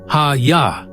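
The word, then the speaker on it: הָיָה: The word ei from the root haya pronounced hayya.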